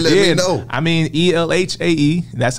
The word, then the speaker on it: Elhae: I mean, Elhae. That's how you can find me. Every Life Has an Ending is the acronym. Mm-hmm. LA. That's how you say it.